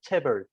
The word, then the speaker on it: chaebol: So look at and I'm sorry, I know chaebol, but pronounce it correctly for me. Chaebol is okay. Chaebol, it's chaebol. okay.